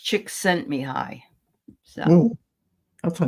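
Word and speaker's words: Csikszentmihalyi: so I'll put it in and um it's pronounced chick sent me high so oh that's a name okay that sounds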